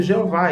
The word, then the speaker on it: Jeová: vocalizações né claro que usamos amplamente Jeová em língua portuguesa mas sabemos que outros falam Javé e tem países também que pronuncia yavé Então se a gente respeita